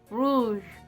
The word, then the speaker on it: rouge: I still have a hard time to pronounce the R in French. Rouge, rouge, rouge. It's from the throat, so it's like you're gargling too. It's like harsh, harsh.